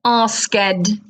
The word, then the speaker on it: asked: Think of I had asked for help. Asked. Written, asked. Pronounced, asked.